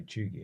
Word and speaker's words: cheugy: Pretty chuggy, am I right?